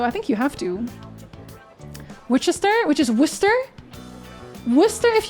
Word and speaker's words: Worcester: I mean, y'all do have French names, so I think you have to Wister, which is Worcester.